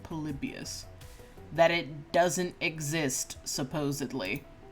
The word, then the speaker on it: Polybius: what do you know polybius that is how you pronounce it polybius that it doesn't exist